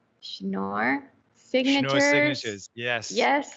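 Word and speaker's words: Schnorr: it improves scalability because it uses something called snore signatures no signatures yes yes correct okay pronouncing it well um so that what it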